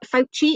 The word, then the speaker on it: Fauci: to bring that international expertise um professor uh fauci i think is how you pronounce some um he's the guy that that